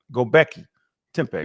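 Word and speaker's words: Göbekli Tepe: lot of sudos that like like Graham do goi tempe. Am I saying it right? Go Becky Tempe.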